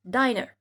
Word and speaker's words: diner: et que si vous enlevez un N d'ailleurs, ça fait diner parce que ça change.